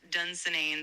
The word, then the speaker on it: Dunsinane: Yes, you've got it right. It's pronounced Dunsinane.